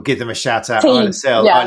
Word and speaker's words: Isla: Isael is not Isla. As I keep saying, it's Isa, but it's spelled ISLA.